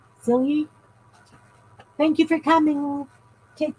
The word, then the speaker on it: Celia: So, I know it's pronounced with a Y. Celia. Celia.